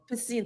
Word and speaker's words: Piscina: Piscina. Yeah, so like what problem were you trying to solve when Piscina was created and how did that kind of come about?